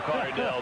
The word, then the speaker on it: McCardell: McCardell, the way he's played these last 2 years.